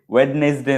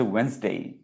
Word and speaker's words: Wednesday: So Monday, Tuesday, Wednesday, ওয়েডনেসডে নয়, ওয়েডনেসডে এরকম নয়, WED ওয়েডনেসডে এরকম মনে হচ্ছে, কিন্তু উচ্চারণটা হচ্ছে ওয়েন্সডে, ডিটা উজ্জ থাকছে, ওয়েন্সডে।